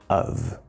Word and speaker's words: of: It's spelled with the letter O and the letter F, but there's no O, there's no F. It's a schwa sound plus a V sound.